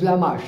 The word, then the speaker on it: Lamache: His surname is Lamache. I can spell it for you. L-A-M-A-C-H-E. L-A-M-A-C-H-E, Mash, the final E is mute, we don't pronounce it.